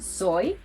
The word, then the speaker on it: soy: So you'll hear it in soy, which means I am, where the sound resembles that of letter I.